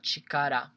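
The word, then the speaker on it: 力: is one kanji and only this single kanji can be pronounced as chakara and this is what i like about countries you know because instead of writing three katakana zor here again I you're right only one thing and it can be pronounced you know as chikara so this is why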